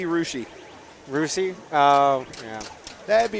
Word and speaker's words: Russia: I live in Ohio most might say Russia like the country Ria you'd be wrong that'd be rushi rousi uh yeah that' be rushi Ohio that's like all